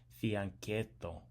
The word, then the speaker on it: fianchetto: I think the CH is pronounced like a K in Italian, so fianchetto.